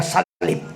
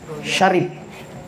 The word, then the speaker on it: Sharif: kami ini, pasaling kami nilong niya, salip. Sharif. Wala pag yung natama, natumbok kong pag-pronounce, kaya Sharif, salip.